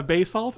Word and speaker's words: basalt: Hey, can you hand me the basalt?